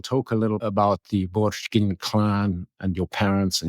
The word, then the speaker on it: Borjgin: Is it Borchgin? Yes, in Mongolian it's Borchgin, so correct, yeah.